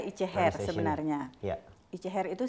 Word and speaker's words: ItjeHer: Jadi pronounce yang benar itu adalah Ice Hair sebenarnya.